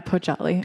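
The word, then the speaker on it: Poggiali: She has had solo exhibitions at Arizona State Museum, the gallery um Poali if I pronounced that right. Yeah, Pojali in Milan.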